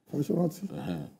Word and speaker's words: Fasoranti: Just as every one of them cannot endorse the position of Baba Fasoranti, or how is his name pronounced? Fasoranti.